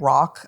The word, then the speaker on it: RoC: The brand rock I think is wonderful when it comes to retinoid technology and it's spelled ROC.